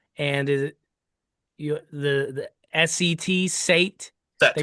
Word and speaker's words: Set: This was a new discovery, but Horus and is it the SET Sate? They Set. Yeah. pronounce it Set.